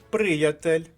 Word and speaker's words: приятель: падає наголос у слові а приятель наголос падає на першому складі А ось друге слово